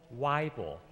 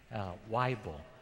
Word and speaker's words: Weible: And Reverend Joel Weible, pronounced like a Bible, Weible, what a good name.